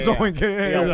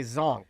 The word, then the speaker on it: zonk: Like a zonk. Is it the Oh, maybe I'm saying it wrong. Yeah, zoink would be something you say when something happens. A zon. You're right, John. I stand corrected. It is a zonk.